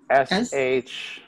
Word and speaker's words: Shashibo: It's on the Shashibo website, which is spelled S-H-A-S-H-I-B-O.